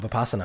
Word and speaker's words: Vipassana: Tell me if I pronounce this right. Is it Vipassana? Vipassana.